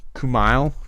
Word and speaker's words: Kumail: uh jeez how do you say his name kumail kumail the uh super famous indian guy i